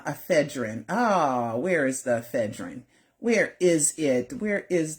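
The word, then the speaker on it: ephedrine: Propal, laorazzipam, madazzipan, lanocane, ephine, ephedrin, ephedrin.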